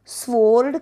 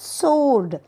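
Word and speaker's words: sword: ओ आर डी सोड स्वर्ड कधीही बोलत नाहीत काय म्हणतात सोर्ड म्हणजे तलवार आणि सायलेंट लेटर डब्ल्यू पुढचं बघूयात एन एस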